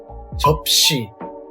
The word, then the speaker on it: 접시: Plates would be 저 plus P plus 시. 접시. Let's move on to the sixth Patchim.